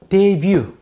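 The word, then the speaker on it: debut: 이게 불어기 때문에 이 뒤가 발음이 생략이 돼요. T가 발음이 생략이 돼 있고요. 적 그리스도의 데뷔, 이 등장이죠.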